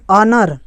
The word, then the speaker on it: honour: होता है ऑरेंज वाला, तो ओ से पहले अगर एच आता है तो वो भी साइलेंट होता है। चलिए हम इसका एग्जाम्पल बताते हैं। ऑनर, ऑनर का इंग्लिश तो